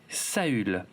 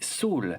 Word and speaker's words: Saül: Il s'appelait Saül, qu'on peut également prononcer Saul, exactement comme le prénom du colonel Ty dans la série réimaginée, dont le nom complet est donc Saul Ty.